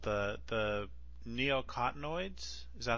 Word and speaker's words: neonicotinoids: The neonicotinoids? Is that how you pronounce it?